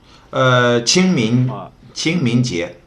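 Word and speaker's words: 清明节: very special individual whose name how do you pronounce his name correctly? 清明节.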